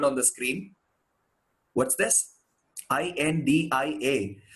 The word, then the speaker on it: India: See, in most of the languages in the world, if there is an A at the end of the word, they don't pronounce it as a long vowel. They pronounce it as a short vowel. They don't say India. They say India.